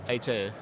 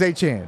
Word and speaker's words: Achane: Here with De'Von Achane, rookie sensation of the Miami Dolphins. Is it Achane or Achane? Achane. Achane, because I've heard so many different pronunciations of Achane. Yeah. So it's Achane?